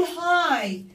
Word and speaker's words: high: خلي بالك الجي والاتش هنا مش بتتنطقوا، بنقول هاي هاي دام.